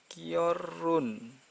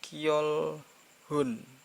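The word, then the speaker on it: 결혼: adalah Oh ya Oh ini bacanya Hai Ki or Run your Run bukan gyeol hon kwun bukan jadi hanya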